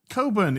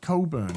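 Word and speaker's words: Cogburn: Coburn. It's a silent G. You're the Coburn. worst. That's pronounced Coburn. You don't pronounce the G.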